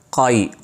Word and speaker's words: قائی: اس قبیلے کا نام تھا قائی، بعض لوگ کائی بھی کہتے ہیں لیکن صحیح تلفظ کا موٹے قاف کے ساتھ ہے۔ اور قبیلے کے سردار